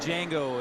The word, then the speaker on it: Django: It's like Django and Change. You know, the J is silent. Or no, the D. It was the D, right?